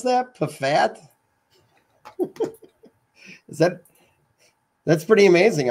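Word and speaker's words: Pfaadt: Pafat? Is that that's pretty amazing. I've never actually heard that guy's name be pronounced before. Yeah. Pafat. Pafat.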